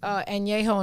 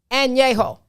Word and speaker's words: añejo: But you have to drink añejo and reposado.